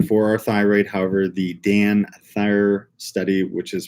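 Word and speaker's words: DanThyr: amount of iodine for our thyroid however the Dan Thayer study which is pronounced da n th yr the dance basically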